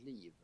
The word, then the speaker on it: liv: becomes something different so life in swedish is leave like uh leave on a tree and it's spelled like this leave liv so you're living two